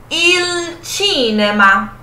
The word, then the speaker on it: il cinema: Però, in italiano, la pronuncia cambia. A pronúncia vai mudar no italiano. Qual vai ser a pronúncia no italiano? In italiano diciamo il cinema.